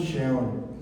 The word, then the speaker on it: Sheol: Seol. Y se pronuncia más o menos Sheol.